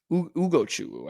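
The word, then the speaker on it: Ugochukwu: Ugo Chuku, I think is actually how you say it, from the University of Miami.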